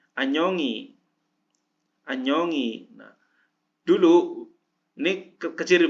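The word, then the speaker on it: 안녕히: Anyong hi, Anyongi.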